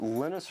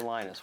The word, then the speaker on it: Linus: And that's when Linus Torvalds came along. Linus or Linus? What's your preferred pronunciation? When I speak Swedish, it's Linus. When I speak Finnish, it's Linus. When I speak English, it's Linus. And I really don't care